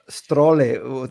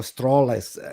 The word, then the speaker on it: Strale: You told me before Strale or Strales. Now teach me how to pronounce, because it's not Strale, it's not Strale, it's Strale. Right? Yeah, that sounds pretty correct.